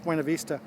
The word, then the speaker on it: Buena Vista: the buena vista ferry let me say buena vista here i'm going to pronounce the spanish buena vista last time i was